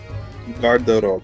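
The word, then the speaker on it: гардероб: So you pronounce it like Garderob.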